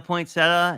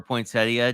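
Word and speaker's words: poinsettia: really nice florals including a pointsetta and or potia depending on how you say it um and I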